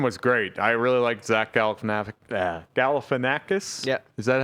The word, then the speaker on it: Zach Galifianakis: I really liked Zach Galifianakis.